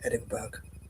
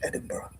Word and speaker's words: Edinburgh: apparently an area in Edinburg or Edinburgh Edinburg so I call it um that has five or six silent letters so it's pronounced Edinburgh of course for those